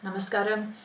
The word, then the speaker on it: namaskar: underneath it is how it looks in ISO namaskar we can clearly see the a is a